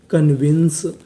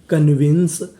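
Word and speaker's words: convince: में लिखा है इ अगर आपको किसी भी मीनिंग के आखिरी में इ लिखा मिले तो हमें इ का उच्चारण नहीं करना होता हमें इ से पहले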